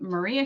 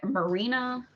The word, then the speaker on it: Marina: between thunder rosa and is it maria shafir is that how you say her name it i believe i think is how you say her last name but marina i know it's not maria yeah i don't know